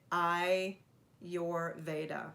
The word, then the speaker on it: Ayurveda: the modalities in ayurveda so have we all practiced how to say it i your veda so now we know